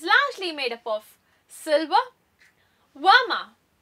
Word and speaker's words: vermeil: The semi-precious category is largely made up of silver, verma, spelt vermeil, pronounced verma, which is 24 karat gold-plated 925 or sterling silver, and even plated metals along with semi-precious beads and stones.